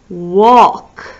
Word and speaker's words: walk: we have walk so walk kind of has a little silent l in there um a silent l in there because we don't really say walk when we say it quickly it sounds like walk but walk that's walk sister oh what do you